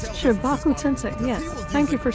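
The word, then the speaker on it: Shinra Tensei: And you can It's tell Shibaku Tensei, yes.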